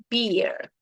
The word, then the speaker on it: beer: This is like typical from TikToks, like when they pronounce difficult words. We have beer, cerveza, beer.